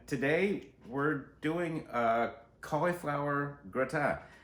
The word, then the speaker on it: gratin: And today we're doing a cauliflower gratin. That is pronounced gratin, not gratin. Not Gratin. Somewhere in the middle is a gratin.